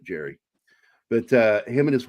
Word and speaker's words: Gerry: lot like the Thunderbird I called him Gary Anderson when I was a kid but then found out he pronounces it Jerry but uh him and